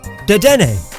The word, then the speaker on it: Dedenne: Dedenne, like antennae, which it has on its face.